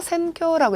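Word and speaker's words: 選挙: 자, 8번 즈기노 센쿄 천거 센쿄라고 읽어주시죠.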